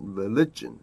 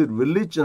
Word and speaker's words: religion: Their thoughts were focused on food and religion. 이게 religion 할 때도 부산지 발음입니다.